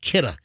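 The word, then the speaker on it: Kidde: know the fire extinguisher company k-i-d-d-e it's it's pronounced kitta and if you search for it I bought mine on Amazon but if you search for it you just type in uh kitta carbon monoxide detector uh lithium ion uh sealed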